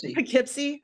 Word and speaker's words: Poughkeepsie: called Poughkeepsie I guess I was saying something Poughkeepsie I got it there's there's a few there's